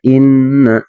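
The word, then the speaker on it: إِنَّ: Ya, pertama inna, ya inna ada huruf nun bertasydid ya di sini ya inna. Nah, ketika ada huruf nun bertasydid maka kita harus membacanya ditekan sepanjang 2 harokat.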